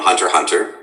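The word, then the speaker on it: Hunter × Hunter: which is hisoka from hunter hunter with we don't pronounce the x it's just some weird punctuation they've thrown in um and he's a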